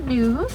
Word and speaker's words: gnu: We can call them gnus. It's spelled G-N-U. Very similar to that sound that they make.